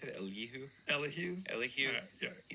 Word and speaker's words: Elihu: The last thing, how do you pronounce it? Elihu.